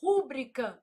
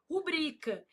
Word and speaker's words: rubrica: A pessoa vai lá e fala assim: "Rúbrica não, não existe, meu filho. Ah, mas eu não posso falar se eu quiser." Não, se você quiser, você pode falar, mas tá errado. O certo é o quê? Rubrica.